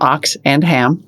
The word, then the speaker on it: Oxenham: 25th cohort founder pete oxenham who told me that you pronounce his last name ox and ham which is awesome beautiful pete oxenham is the founder of